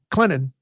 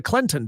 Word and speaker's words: Clinton: quick on that like nobody enunciates that that that tea in Clinton nobody says hey guys we're going to Clinton tonight I don't know why